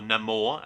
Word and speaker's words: Namor: I'll speak about Namor, or Namor as they pronounced it within the movie.